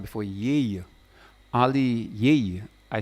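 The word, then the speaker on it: Yaye: Well, I said the name is called, the DJAB was called before Yay. Only Yay. I spell it like Y-A-Y-E.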